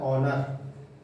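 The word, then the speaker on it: honour: एच ओ एन ओ यू आर, इसका मतलब क्या होता है? ऑनर। ऑनर में भी एच क्या होता है? साइलेंट, मतलब इसको ऐसे लिखना, ऑनर।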